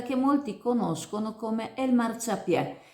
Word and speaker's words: Marciapiè: molti conoscono come El Marciapiè, con l’accento sulla è per non correre il rischio di confondere il dialetto marinante con il dialetto chioggiotto che la pronuncerebbe Marciapie come ha sottolineato la dirigente del Comprensivo Sottomarina Sud, Simonetta Boscolo.